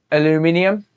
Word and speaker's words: aluminium: So they're saying aluminum, whereas if they was going to pronounce it that way, it should be aluminium.